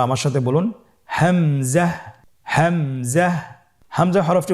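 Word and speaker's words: همزة: পরবর্তী হরফটির নাম হামজা হামজা হরফটি উচ্চারণের ক্ষেত্রেও বারিক করে উচ্চারণ করতে হবে এবং এখানে টেনে পড়া যাবে না দ্রুত পড়তে হবে আপনারা আমার সাথে বলুন হামজা জাহ হামজাহ হামজা হরফটি উচ্চারণের স্থান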